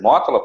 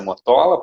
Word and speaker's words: Mótola: Eu sou o Mótola, aceito toda a pronúncia do meu nome, tá? Pode ser Mótola, pode ser Motola, pode ser Motolá, como eu fui chamado essa semana.